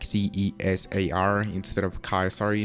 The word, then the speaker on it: Cesar: name age and height well my name is Cesar like CES AR and instead of Kyle sorry no just like